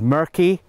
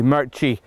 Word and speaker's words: Murchy: In fact, growing up, I often got called Murky, whereas it is actually Murchy. It's like ch for cheese, or chicken, or something like that.